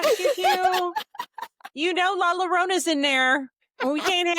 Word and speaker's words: La Llorona: You know, Laalona's in there and we can't have none of the kids' friends coming over and sitting on Laalona. Not laona.